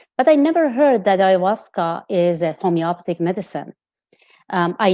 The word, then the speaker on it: ayahuasca: like i know it's ayahuasca yes people pronounce it different in the states we tend to pronounce alahaska all right thank you that's